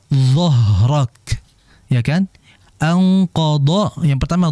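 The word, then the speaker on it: أنقض: q dorak ya kan anqod yang pertama D kemudian kedua dorok makai huruf d jadi jangan sampai kebalik alladzi anqod D anqod doohrok ini berbahaya sekali ya Jadi yang pertama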